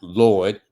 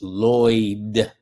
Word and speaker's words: Lloyd: My name is not Lord, like Lord. It's Lloyd, 2 syllables.